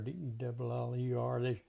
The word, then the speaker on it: Della: And D-E-L-L-A or D-E-L-L-E-R. They pronounce it like Deller.